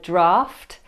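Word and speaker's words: draught: This is pronounced draft, not to be confused with the first draft of a book, which sounds the same but has a different spelling.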